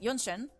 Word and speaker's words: Genshin: genshin in English like genshin was like a yonen right yonshen and that's the Chinese version but in the English like ginshin and apparently it's like